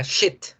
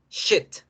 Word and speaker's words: shit: Pero, disculpen la palabra, la expresión mierda, o la palabra shit, shit, shit, se pronuncia con la I corta.